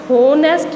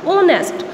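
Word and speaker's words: honest: तो इसकी साउंड हमारे पास होनेस्ट नहीं आती, इसकी साउंड क्या आ रही है, ओनेस्ट। तो यहाँ पर क्या साउंड, किस चीज़ की साउंड आ रही है, ओ की। एच हमारे पास क्या है, साइलेंट है, साउंड किसकी आ रही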